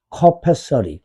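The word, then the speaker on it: capacity: 그 다음에 여러분들 한국 사람이 이 발음을 못해. 캐파라고 불러요. 기업인들이. 커페야, 커페. 커페서리. 그죠? 근데 니네 회사 캐파가 얼마인지 좀 얘기해 주세요, 캐파를. 캐파가 전혀 없잖아.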